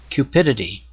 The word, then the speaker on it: cupidity: in the english dictionary cupidity cupidity is simple to remember it rhymes with the word stupidity the dictionary defines cupidity